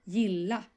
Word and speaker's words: gilla: Gilla. Gilla. So you stress it twice.